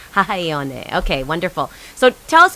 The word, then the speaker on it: Hahaione: Or can you pronounce it for me? Yes, that's correct. Hawai'i Elementary. Hahaione.